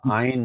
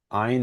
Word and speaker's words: Ayn: I think she put it once as Ein rhymes with mine as a way to remember the Ein, pronunciation. She's all about Ein. egoism and doing what's good for myself. So Ein and mine, maybe that's a good way to remember.